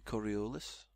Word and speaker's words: Coriolis: Looks like a Coriolis. See, I pronounced it right that time.